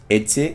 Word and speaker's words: Eti: How do we pronounce this? Itte. That's the brand. Itte.